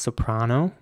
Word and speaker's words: soprano: you worst case scenario the next word is spelled s-o-p-r-a-n-o and in British English this would be pronounced soprano with an R sounding a once again and an American English it would be soprano with an air here's an example of